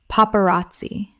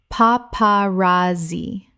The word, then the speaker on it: paparazzi: Paparazzi. Common mispronunciation. Paparazzi. Correct pronunciation. Paparazzi. 4 syllables with the stress on the third. The Z makes a TS sound in Italian.